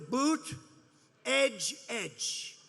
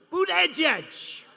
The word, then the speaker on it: Buttigieg: And they said, here's what you do. Boot, edge, edge. Say edge like the edge of a building. Edge, edge. Boot, edge, edge.